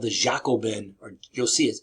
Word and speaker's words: Jacobin: French Revolution called the Jacobin or you'll see it spelled like j a o b so Jacob but it's not Jacob it's jao like with the Y Jacobin societies which has